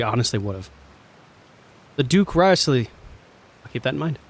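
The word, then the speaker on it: Wriothesley: he's a very shrewd rley is how you say it yeah we heard about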